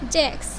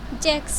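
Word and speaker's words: sechs: এখানে এই সংখ্যার সে হা এস এর উচ্চারণটা আপনারা ক স শুনতে পাবেন। জার্মানিরা যখন উচ্চারণ করে তখন জ্যাক্স বলে।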